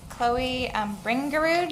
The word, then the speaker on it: Chloe Bringerud: All right, next, Chloe Bringerud. Did I say that correctly? Yes, it's like it's spelled.